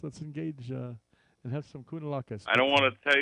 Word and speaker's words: Kounalakis: Kounalakis, all right. Kounalakis. Sounds like a good Greek meal there. Kounalakis. Let's engage and have some Kounalakis.